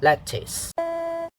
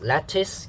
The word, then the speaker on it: lettuce: Okay, the second syllable is the, it has the I sound, the short I here, the I sound. So it's not a sound. So some people say lettuce. Okay, I think lettuce is better, the I sound rather than the sound. I'm not saying that the sound is wrong.